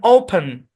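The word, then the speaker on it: open: অর্থাৎ এই শব্দের উচ্চারণ ওপেন, ওপেন, ওপেন, পেন, এরকম।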